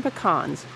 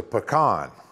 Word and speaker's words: pecan: The plan, launched in the aftermath of China implementing increased tariffs against the industry, includes the new marketing slogan, American Pecans, the original supernut.